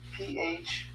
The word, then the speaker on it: phlebolith: So the best way to spell that for me, phlebolith? Yeah, PHLEBOLITH.